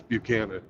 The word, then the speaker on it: Buchanan: James, I don't know the correct pronunciation. James Buchanan, Yeah, it's Buchanan.